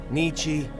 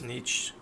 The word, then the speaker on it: Nietzsche: Nietzsche, again, please spare me before my ears start to bleed.